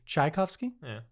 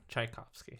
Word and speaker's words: Tchaikovsky: do you say it tchaikovsky i'm putting the emphasis on the wrong syllable chai and i said key and i said tchaikovsky tchaikovsky yeah tchaikovsky anyway